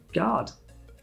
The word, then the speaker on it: guard: After the letter G, U is often silent. Guard, you don't hear the U.